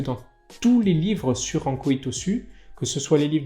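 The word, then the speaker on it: Ankō Itosu: est toujours écrit que Anko Hitosu, c'est la prononciation en okinawanais, c'est en japonais Yasutsune Hitosu.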